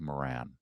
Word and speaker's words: Maron: I'm told it's pronounced Marc Maron.